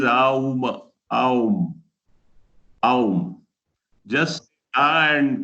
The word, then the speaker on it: Om: It explains even the Om point, how Om is pronounced. Om is written and talked of as Om, but when it is chanted, it is Aum, Aum, Aum.